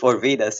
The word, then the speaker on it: Orvidas: Today I have Kazy Orvidas. And I actually forgot to ask you, Kazy if Orvidas is how you say your last name, but I hope I got it right.